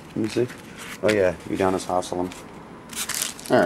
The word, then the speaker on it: Udonis Haslem: Udonis Haslem, 250. Mm-hmm. Say his name wrong? Yeah. Let me see. Oh yeah, Udonis Haslem.